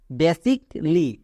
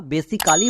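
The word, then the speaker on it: basically: tips আছে মনে রাখার সি এ ডবল এল ওয়াই থাকলে কলি উচ্চারণ করবা যেমন দেখো লজিকলি বেসিক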